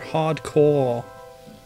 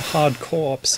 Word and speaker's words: Hard Corps: Drive installment Contra hardcore or hard corpse if you want to mispronounce it amusing way so this